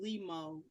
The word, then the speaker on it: Lee Mo: name, but my artist name, Limo, rhymes with Nemo, which has no correlation with that movie.